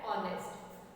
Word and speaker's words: honest: Are and honest. So here in this case, HO is pronounced as O.